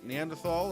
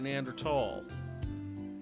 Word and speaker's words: Neanderthal: uh right Neanderthal or nander tal you use nander tal I've always heard it as Neanderthal is it a preference a preference and there's no h sound when it's pronounced in French and German it's something that I